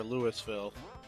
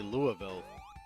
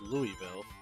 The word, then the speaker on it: Louisville: Even the wackadoo pronunciation that they use out here where they say Louisville makes more sense than Lewisville.